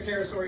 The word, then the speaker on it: pterosaur: Why don't you hear a pterosaur use the bathroom? Why? The P is silent.